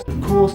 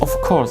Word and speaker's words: of course: Compare that with this Polish speaker pronouncing of course with a strong of. Of course, of course, of course, of course, of course. It's not quite the same, is it?